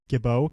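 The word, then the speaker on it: Gibault: told me it's actually Gabau Catholic. I think we've been pronouncing it Gibbalt or Gibbalt, but he was talking to me in I think it's Gabau Catholic.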